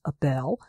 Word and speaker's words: Abel: husband's name Abel which here we pronounce Abel but he's Abel which has that eel on the end um you said you